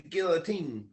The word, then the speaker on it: guillotine: my pillow underneath the guillotine yeah exactly and that word is pronounced Guillotine by the way just so you know Guillotine like it's French for chopping off your head yeah a guillotine um